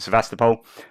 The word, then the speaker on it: Sevastopol: at the Sebastopol airport I think the the Ukraine is pronounced that slightly differently but in the west we pronounce it sevastopol um and I said